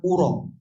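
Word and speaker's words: أرى: Ma arro dibaca dengan fathah hamzah bimakna la a'lamu. Karena ada dua cara baca ya. Ma aro atau ma uro. Yaro atau yuro. Kalau dibaca fathah. Kalau dibaca fathah aro artinya a'lam. Kalau dibaca domah uro artinya adunnu menyangka.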